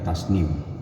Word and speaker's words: Tasneem: Ada namanya Tasneem, dibacanya Tasnim.